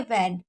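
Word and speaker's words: when: हमेशा क्या पढ़ेंगे, वैन, क्योंकि यहाँ पर जो डब्लू होता है, डब्लू एच होता है, और डब्लू एच के बाद अगर ई आता है तो एच साइलेंट होता है, इसलिए इसको वैन पढ़ा जाता है।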